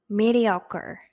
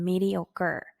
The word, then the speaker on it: mediocre: mediocre. 얘는 이 뒤에 스펠링이 CRE라고 돼 있지만 발음은 CER처럼 하시면 돼요. 그럼 mediocre.